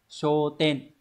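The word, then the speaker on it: 焦点: Thì sẽ đọc là show. Như vậy, tiêu điểm sẽ là show ten.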